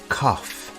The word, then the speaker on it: cough: do you have a cough the word cough has an unusual pronunciation instead of a g sound we have an F sound here do you have a